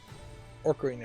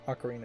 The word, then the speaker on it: Ocarina: me as um as orar of time Ocarina of Time I never pronounce that right uh I add an R for no reason I'm thinking Orca as far as a